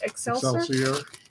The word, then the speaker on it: excelsior: Excelsior. Excelsior.